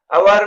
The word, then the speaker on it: hour: अवर में S silent है और ओ वावेल साउंड, इसलिए अवर से पहले एन यूज होगा।